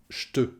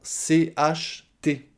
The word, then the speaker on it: j'te: On prononce le J, j. On rajoute le te, ça donne j'te. J'te. Alors, c'est très souvent transformé en j'te, ch. Plutôt que de prononcer le J et le T, en faisant la liaison j'te, eh bien, en parlant vite, ça se transforme en CHT. J'te, j'te. Les deux sont corrects.